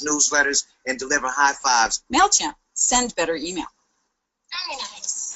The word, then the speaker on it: MailChimp: And because the kid mispronounced MailChimp and called it MailKimp, there's a whole MailKimp account.